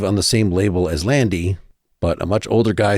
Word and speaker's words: Lande: And she assures me that it is pronounced Lande, even though it looks like it's Lande Hekt.